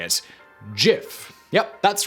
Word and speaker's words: GIF: we should say it jif yup that's right despite all arguments to the country the creator of everyone's favorite embeddable animation format insists that it is pronounced with a soft g according to willheid the